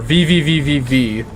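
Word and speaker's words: VVVVVV: VV VV soon or vvvv V soon even though it's technically like pronounced V or something it's just pronounced like one V that game seems pretty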